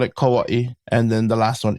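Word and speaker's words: Kauaʻi: And some people call it Kawaii even some of the natives. So it depends. I I call it Kauaii.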